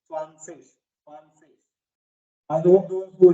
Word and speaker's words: zwanzig: Sir, Z is pronounced as sir, so it is Swan. and again Z, Sig. G also or IG at the end can be pronounced as ish, swanfish.